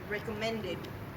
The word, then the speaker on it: recommended: doubts doubts doubts and recommended recommended on the end of recommended at make the ET sound louder recommended now say doubts